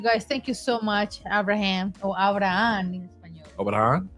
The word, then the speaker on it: Abraham: But yes, you guys, thank you so much, Abraham or Abraham in español. Abraham? Abraham. Abraham. Abraham. No, we don't. The H is silent, right? Silent. Abraham.